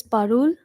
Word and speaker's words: Parul: It's pronounced as Parul, P-A-R-U-L. Parul. Parum.